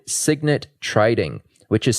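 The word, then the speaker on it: Cygnet: proprietary trading firm with a few partners called Signet Trading, which is spelled C YG NE T.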